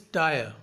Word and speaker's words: dire: The fourth word for today is dire. D-I-R-E. In this word, R is silent.